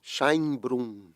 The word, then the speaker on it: Szajnbrum: Chainbrum.